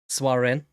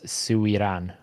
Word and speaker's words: Suiran: Swaren. Neither of you pronounced it correct. It's Suiran. Oh yeah, okay, can see it. Suren. No, Suiran. Suiran.